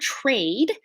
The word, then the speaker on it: trade: it down first word trade the tr isn't really like a tr it's kind of like a ch sound so i'll show you